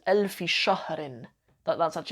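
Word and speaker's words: ألف: how you say 100 a thousand is elf and the plural is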